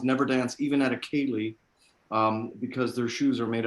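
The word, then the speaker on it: Ceilidh: pronounce them. Kaylee. Where'd you go? Kaylee.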